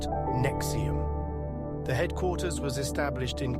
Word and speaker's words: NXIVM: In 2003, Executive Success Programs was reorganized under a new umbrella organization called NXIVM, pronounced Nexium.